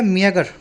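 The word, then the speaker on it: meagre: चलिए अगला वर्ड है मियागर। पहले बोल के देखो इसको, स्पेलिंग भी देखो। GER नहीं है, ये GRE है, मियागर।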